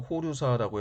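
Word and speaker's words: 法隆寺: 그리고 막대한 재정을 투자해서 사천왕사와 법룡사, 일본어 발음으로 호류사라고 해서 지금까지 남아있는 가장 오래된 목조 건물이라고 하는데, 이런 불사들을 세우게 됩니다.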